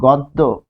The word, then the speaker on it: গদ্য: আমরা যে লিখি গদ্য এরকম লিখি কিন্তু এটা কি হবে গদ্য গদ্য গদ্য পদ্য তাহলে গদ্য পদ্য উচ্চারণ হবে গয়ে গদ্য কারণ কি গ এর